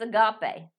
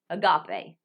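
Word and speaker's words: ἀγάπη: But that's not how it's pronounced. You get into syllabification, but every syllable is supposed to have a consonant, and every syllable is supposed to have a vowel. Does that make sense? Every syllable is supposed to have a consonant. So it was, or a vowel. Yeah, you have to divide it like this. Agape. Agape. Agape. Agape instead of agape.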